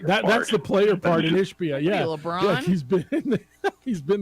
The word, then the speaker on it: Ishbia: And my bad on the pronunciation. It is Ishbia, and the flop was crazy.